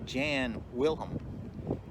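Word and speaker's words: Jan Wellem: when i started my tour today i was showing you where the statue of the gentleman on the horse is pronounced jan wilhelm that's the way the people of dusseldorf remember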